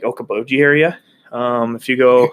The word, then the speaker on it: Okoboji: There's like, if you go around, somebody's going to get mad from this, but like Okoboji area. If you go, it rhymes with Schmoka-Schmoji.